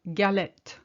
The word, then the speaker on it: galet: Okay, I read galet because obviously there's no E after the T, but they read the wrong one, and just that because they were ready to pronounce the last letter and that's what they